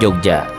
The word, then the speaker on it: Yogyakarta: Karena lidah orang Belanda sebagai penjajah bangsa pada saat itu sulit menyebutkan kata nga di awal kata, maka pengucapan Ngayogyakarta saat itu sering hanya diucapkan Yogyakarta oleh orang-orang Belanda. Hal ini akhirnya diikuti oleh orang pribumi. Hingga saat ini, dalam penggunaan sehari-hari, Yogyakarta lazim diucapkan Jogja, atau dalam bahasa Jawa Ngayogyakarta.